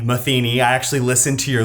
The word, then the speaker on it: Matheny: Today I have Tyler Matheny, not Matheny, not Matheny, Matheny.